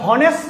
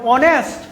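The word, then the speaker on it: honest: অনেস্ট শব্দ, এটা হনেস্ট না, এটা অনেস্ট। এইচ এর উচ্চারণ হয় না, এটা ও এর উচ্চারণ হয়, এই কারণে এখানে এ না হইয়া এ নইব।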